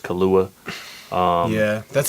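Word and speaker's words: Killua: one track so far so i know it's pronounced kahlua um yeah that's how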